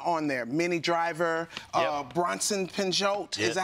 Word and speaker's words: Bronson Pinchot: Bronson Pinchot.